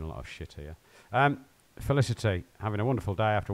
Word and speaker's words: Felicity: be useful is he Felicity felicity your name rhymes with electricity so let's just say